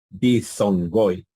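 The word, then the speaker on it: δίφθογγοι: Si se dan cuenta, aquí está el fenómeno de la gamma antes de otra gamma o antes de otra gutural. Dizongoi. No dije dizongoi, ¿no? Sino que esta gamma se convirtió en una nu. Bien. Y aquí pronuncié la fi y luego la zeta.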